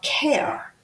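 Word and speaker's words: Kehr: It passed 7 to one and the one was new council member Bob Care, whose name is spelled K E HR, but it's pronounced care.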